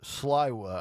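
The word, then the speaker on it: Sliwa: by the name of Curtis slywa I believe is how you say it and he I I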